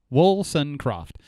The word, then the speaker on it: Woolsoncroft: no i'll tell you it's wilson croft it's it's exactly how it looks woolson croft carol lee wilson croft